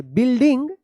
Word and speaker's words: building: आप बिल्ड पढ़ते हैं, यहाँ पे यू जो है ना साइलेंट है, बिल्डिंग, and found a small sword, SWORD sword, यहाँ पे W साइलेंट है, इनसाइड।